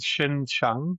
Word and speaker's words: Xinjiang: Okay, so you get it's called Xinjiang. So the XI sound has got a sh sound to it, so Xinjiang.